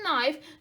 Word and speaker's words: knife: going to use the knife to spread saliva on both slices so next use the knife knife has a silent k at the start use the knife to